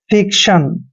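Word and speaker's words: fiction: enjoy आनंद लेना clear F आई सी टी आई ओ एन दोस्तों एफ का उच्चारण फ करते हैं आई को ई की मात्रा पढ़ते हैं सी का उच्चारण आधा क करते हैं और जब भी टी आई ओ एन चारों लेटर इकट्ठे आते हैं तो इसको हम पढ़ते हैं सन मतलब फिक्शन फिक्शन होता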